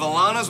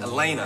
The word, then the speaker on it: Elena: you come on down Alana am I saying your name right Elena Elena I'm sorry I said it wrong Elena Elena we are